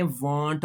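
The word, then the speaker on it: won't: तो यह बात आपने अपने ज़हन में रखनी है कि विल नॉट को आपने वांट पढ़ना है।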